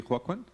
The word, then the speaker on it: Joaquín: So the first presentation is going to be Joaquín. That's the right pronunciation? Yes, practically, Joaquín.